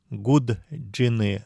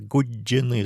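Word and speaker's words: гудджины: Не говорят гуд джины, а говорят гуджины с двумя джи.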